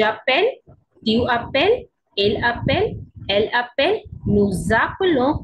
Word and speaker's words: nous appelons: Now in case of plural, nous appelons, there is liaison, S and R we pronounce together, we call this liaison. So j sound come, nous appelons, z'appelons.